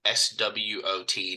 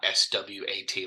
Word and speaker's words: SWOT: So it's spelled SWOT, not SWAT, like not a SWAT team that comes and saves you, like the police, but SWOT.